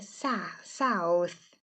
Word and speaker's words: South: Só chamando atenção aqui olha para a palavra sou aqui a primeira sílaba tem o som do nosso a tipo não tem som de u é South aí o próximo aqui